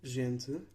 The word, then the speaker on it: gente: These vowels become nasalized if M or N precedes the vowel, and M or N will not be pronounced as a consonant itself. For example, Gente, meaning people, cinto, meaning belt, and sargento, meaning sergeant.